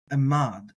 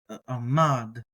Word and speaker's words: עמד: have in mind today is the Hebrew term Amad a mod and that's spelled a mod and it has the connotation